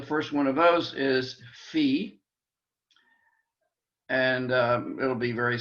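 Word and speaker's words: phi: one of those is fee and uh it'll be very simple to write with a circle or like an omicron with a line through it fee our f sound p h i fee and maybe it helps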